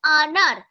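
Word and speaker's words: अनार: হিন্দিতে বলছে আনার। কিন্তু দেখো এখানে আনার উচ্চারণটা আমরা অ উচ্চারণ কি করে করি? অ এর অজগর এরকমভাবে করি। তো আজগার এভাবে তো উচ্চারণ করি না।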